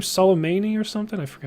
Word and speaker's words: Soleimani: Because apparently that general that we drone striked, how do you pronounce his name? Soleimani or something? I forgot how you say it. It's Soleimani.